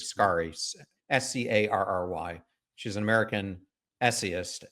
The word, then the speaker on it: Scarry: And you end up writing about a quote that Elaine, I think her name is pronounced Scarry, Scarry.